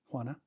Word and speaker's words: Juana: Juana. I was gonna guess that because I took Spanish in high school and I remember the J is pronounced like an H.